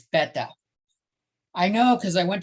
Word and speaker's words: beta: lot of people say most say beta but they're wrong it's better i know because i